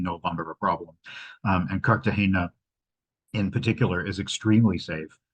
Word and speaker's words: Cartagena: point out it is Cartagena. It is not Cartagena, which a lot of people, including myself, always thought. There is no tilde in the name, and it is named